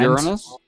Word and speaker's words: Uranus: common Uranus no comments you're honest yes that that is how it's pronounced what are we a